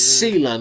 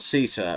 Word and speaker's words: Sela: Oh, it's Sela, not Sita.